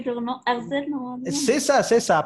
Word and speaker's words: Herzl: Herzl, normalement. C'est ça. Prononce, même si c'est faux. Vas-y. D'accord, ok. Là, c'est lui, c'est vrai. C'est Théodore Herzl.